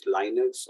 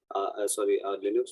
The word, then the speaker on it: Linux: Don't call it Linux or Linux or Linux. Linux. But you'll hear based on which people you are interacting with, you'll hear a different variation of the pronunciation.